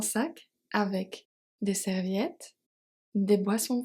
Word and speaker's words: boissons: also silent serviette des boissons fraîches des boissons fraîches. Boisson. Boisson. We seen this one. Boisson. The S is silent.